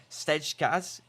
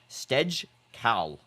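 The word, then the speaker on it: Stejskal: Cross from Mbappe, and that has to be saved by the goalkeeper, Stejkaz. What the heck? Stejkal. Let's just try and get that guy's name pronounced correctly.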